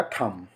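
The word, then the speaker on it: thumb: यहां पे टी ह यू एम बी तो यहां पर भी बी जो है साइलेंट हो जाएगा एम के बाद ए रहा है तो ये हो जाएगा थंब अगर किसी वर्ड में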